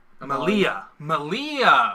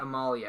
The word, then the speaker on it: Amalia: Malia. Okay. And you were saying... Amalia. Amalia. Like Princess Amidala, but you remove the D.